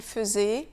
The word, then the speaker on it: faisait: Un clown faisait, je faisais, il faisait. Le premier AI de faisait se prononce E.